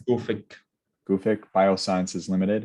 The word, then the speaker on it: Gufic: How do you pronounce this? Is it Gufic? Yeah, it's Gufic.